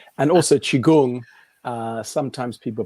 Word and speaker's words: qigong: it wrong and also qigong sometimes people pronounce it slightly differently but because it's spelt q-i-g-o-n-g q-i could be spelt c-h-i so that's chi energy gong is practice i